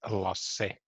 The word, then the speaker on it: Lasse: Yeah, it's Lasse. You Lasse. pronounce the E too.